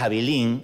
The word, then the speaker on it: Abilene: Ustedes no sé si saben lo que es Abilín, yo no tenía la menor idea que Abilín, se escribe Abilene, existía.